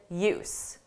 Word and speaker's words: use: Let's use what we can put to good use. Notice the length of the sounds.